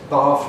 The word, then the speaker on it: bath: And bath goes with start, which means that bath rhymes with half.